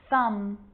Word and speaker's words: thumb: with the letter b it's always silent when it follows the letter m climb crumb lamb thumb dumb and plummer so practice them with me i'm not pronouncing the b i'm just pronouncing the m consonant sound climb crumb lamb